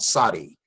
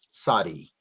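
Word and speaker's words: Tzadee: Okay, this next letter makes called Sadi. T-Z-A-D-E-E. Sadi. And it makes an interesting sound. It makes a T-Z sound, like in the word Sadiq or Sadaka.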